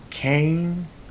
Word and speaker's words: Kane: They have Stones, Kane, Rice, and Trippier. Now, Kane isn't spelled like a regular cane, like a walking cane, but it sounds like it.